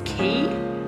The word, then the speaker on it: Quay: City Beach and the brand of them is key but it's spelled Quay and I think I